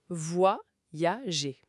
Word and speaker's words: voyager: Attention, voyager. Voyager. Trois syllabes, faut bien les détacher au début.